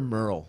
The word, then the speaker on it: Merle: Merle is M-E-R-L-E, There's another Merle with that first name spelled like that. Yeah, that's Merle like Harrington and like Shirley, I always say.